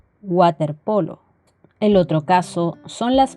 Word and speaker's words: waterpolo: se lee como una que sándwich sandwich o waterpolo el otro caso son las palabras de origen